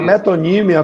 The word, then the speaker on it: metonímia: Antônio Carlos, se você me permite, essa é metonímia. É metonímia, né? A pronúncia correta?